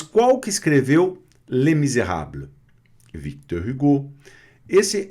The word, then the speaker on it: Victor Hugo: Esse é um pouco mais difícil para a gente, né? Victor Hugo. Victor Hugo, né? Então, tem esse Czinho mudo aqui, tá? Victor Hugo, tá? U, com som de I, Hugo.